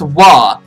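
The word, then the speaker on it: は: my cords again restaurant it's pronounced wha so you're going to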